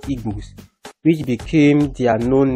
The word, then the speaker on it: Igbo: The pronunciation of Igbo as an ethnic group and Igbo as bush in Yoruba is not the same, but as per time, it could have been later corrupted to Igbo.